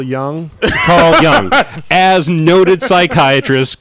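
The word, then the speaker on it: Jung: sorry mispronouncing that um I believe it's pronounced Carl Young Carl Young as noted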